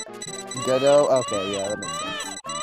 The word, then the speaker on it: Godot: It's not Godot. It's not fucking waiting on... It's Godot.